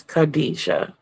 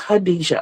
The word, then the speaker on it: Hadija: The K is silent. Okay. Okay. Auntie pronounced hers Khadijah. So it's Hadija.